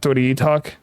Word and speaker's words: doitietok: Anyway, how is your name pronounced? Daisy got Doity talk. Acting unwise. And that's how I pronounce my name. I am Doity talk.